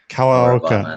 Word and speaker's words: Kawaoka: you how do you say your last name coloca yeah definitely exactly exactly so so Lane is